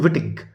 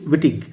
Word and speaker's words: Wittig: exam notable representatives um include monty uh monique vittig this is the first name monique m-o-n-i-q-u-e wittig who coined the phrase heterosexual contract and she